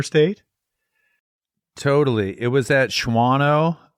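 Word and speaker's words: Shawano: totally it was at shano not shano or schano anyway it's one of those unpronouncable Towns at Cecil Fest in the year 2003 Shao leave out silent W shano not shano shano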